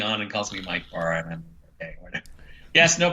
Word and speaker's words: Bara: very long time ago how to pronounce his name he said it was Bara uh but he said it's fine if I he says people say bar all the time and I decided